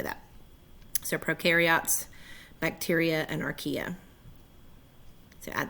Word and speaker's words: prokaryote: Prokaryote, pro rhymes with no nucleus.